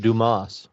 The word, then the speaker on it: Dumas: It's pronounced Dumas.